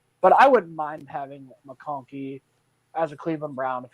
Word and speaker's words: McConkey: Like you said, Mahonky is now I can't even pronounce his name right. All right. Lad McConkey is a guy that plays bigger than what he is.